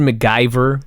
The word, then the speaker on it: McGiver: that by the way MC g i v e r mcgiver yeah they pronounced it mcgyver but they spelled it mcgiver they do this all